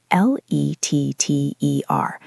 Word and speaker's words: letter: L E T T E R.